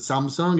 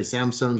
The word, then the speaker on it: Samsung: was a designer at um Samsung um we pronounce it Samsung it's in Korea so it's a Korean company Samsung I think you say Samsung here uh consumer electronics and before that I